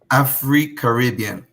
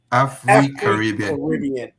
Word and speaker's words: AfriCaribbean: AfriCaribbean. AfriCaribbean.